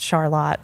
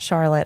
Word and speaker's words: Charlotte: know where Charlotte oh and I he it's pronounced Charlotte not Charlotte although it's spelled what most what I would